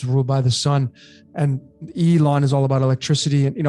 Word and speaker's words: Elon: So I know a lot of people say it's L, but we don't say it's Elon, it's Elon.